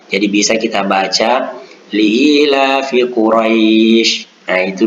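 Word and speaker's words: قريش: Kedengaran seperti bunyi i. Karena ada juga yang membaca Quraisy, nah, itu dibaca e, itu salah itu. Itu kasar, tidak lunak, tidak layyin. Nah, sementara di situ kita harus membacanya dengan layyin, dengan lunak.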